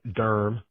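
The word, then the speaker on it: Durham: I'm from Durm originally. Darmm, one of the best cities around with one of the best pronunciations.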